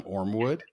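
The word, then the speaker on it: Ormewood: Did I pronounce that right this time? Ormwood.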